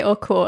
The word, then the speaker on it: Oko: Well, I would say oko and that's what I heard the locals say as well, but I